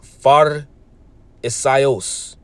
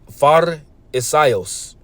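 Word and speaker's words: Φαρισαῖος: And when you get the word Pharisee here, that word in the Greek is pronounced Pharisaios. Pharisaios.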